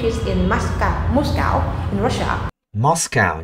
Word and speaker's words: Moscow: Moscow nhé, cái mốt rồi. Tiếng Anh không có ô mà.